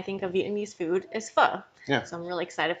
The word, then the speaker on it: pho: of Vietnamese food is pho. Yeah. So I'm really excited for today. Sweet. How do you pronounce it? So pho, phonetically, would be spelled F-U-H.